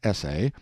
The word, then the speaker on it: essay: we find that this essay is a verb meaning to try or attempt with the accent on the second syllable here's how the merriam-webster